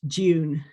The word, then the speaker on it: Dune: so in british english in most british english except for maybe norfolk um it would be pronounced june with a little yes